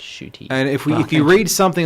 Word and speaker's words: Ncuti: to this pronunciation guide, it's Ncuti.